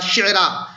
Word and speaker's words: شعرا: شعرا، وَأَنَّهُ رَبُّ الشِّعْرَا۔ عام طور سے طلبہ اس میں ان کے تلفظ میں غلطی کر جاتے ہیں، تو شعرا یاد رکھیں، قرآن پاک میں جو شعرا کا لفظ آیا ہے اسی کی طرف اس کا اشارہ ہے، اور شفیق فاطمہ